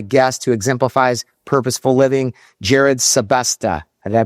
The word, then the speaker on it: Jerrid Sebesta: Speaking of, today we have a guest who exemplifies purposeful living, Jared Sylvesta. Did I pronounce that right?